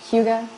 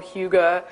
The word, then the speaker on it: hygge: of videos trying to figure out how to pronounce @h y GG e is the word so Hyuga it's kind of how I've been embracing it